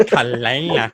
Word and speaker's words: Caela: I was like, James, if I get this girl's name wrong, I'm going to fucking It's like snap. Caela. It's like Caela.